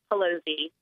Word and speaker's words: Pelosi: now is, and I think it's Pelosi, but I need to check and make sure I'm saying it right because I just email her all the time and I never have to say her name. And she is with Concerned Women for America. thank you for joining me. Thank you for having me, and you're correct. It's Pelosi.